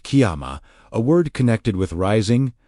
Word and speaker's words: Kyama: The third key is Kyama, pronounced Kyama, a word connected with rising, standing, being established, and taking one's place.